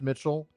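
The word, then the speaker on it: micel: So yeah, the Old English form is M-I-C-L, but because it's Old English, it's pronounced Mitchell. And that's because the C in Old English, when it's before an E in Old English, is palatized, which is pronounced like the CH.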